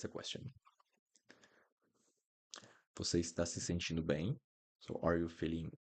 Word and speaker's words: sentindo: Você está se sentindo bem? So, are you feeling alright? It's all good. Você está se sentindo bem? Sentindo. Be careful with the pronunciation of the T.